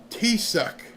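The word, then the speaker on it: Taoiseach: Gaelic for chief or leader pronounced t- suck.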